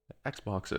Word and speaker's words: Xboxes: xboxes or said xbox how do you say xbox plural xboxes is that how you say it i would say xboxes yeah i think so i i would say xbox in like like oxen so that works yeah